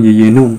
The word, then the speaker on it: jejunum: Nah, sekarang kita pindah ke jejunum dulu atau yeyunum ya, bacanya. Nah, yeyunum tadi kan ciri khasnya dia itu kurus, pelikannya.